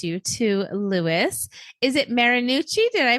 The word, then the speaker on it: Marinucci: love to introduce you to Lis is it marinucci did I pronounce that correctly yes she did it is marinucci wonderful it's so nice to meet you Louis